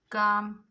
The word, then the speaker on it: calm: This all words L is silent. Now next we have palm, walk, chalk, folk, talk, calf, calm, balm, then almond.